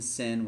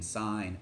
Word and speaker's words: sine: can say them right we're not saying sin we're not saying cost okay we're saying sine cosine tangent copy this down so